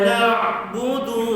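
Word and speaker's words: نعبد: Iyyaka na'budu wa Ni kadang kalau dulu saya dulu kecil-kecil bacanya memang du tu panjang kan. Iyyaka na'budu wa iyyaka. Tak boleh baca begitu. Du tidak ada mad sama sekali.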